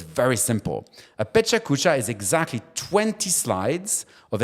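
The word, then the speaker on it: Pecha Kucha: do this and I love it it's called Peta cucha so if you've never heard of this this is really cool so Peta cucha is spelled p e c h a k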